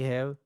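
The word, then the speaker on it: ح: So how to pronounce it clearly? Okay? With the tajweed rules. When you pronounce it it will it will make from your middle part of throats.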